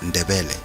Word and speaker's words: Ndebele: The Soto pronounced it as Matebele, but the Nguni pronounced it as Ndebele, so the people under Chief Ngaba were calling themselves Amandebele, and their language became Isindebele.